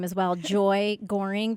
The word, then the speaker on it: Gohring: name is well joy goring there's a silent h g o h RI